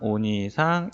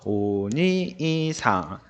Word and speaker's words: お兄さん: 오니이상. 근데 실제 발음은 니를 두 박자로 발음해요. 들어볼까요? お兄さん、 자, 오니이상. 니 하고 끊고 이를 발음하지 않고 니를 두 박자로 끌어주죠.